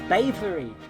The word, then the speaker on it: Bavery: Is that pronounced Beverly or is that by? Oh, it's Bavery.